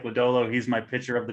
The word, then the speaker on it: Lodolo: Lodolo and Joey Votto.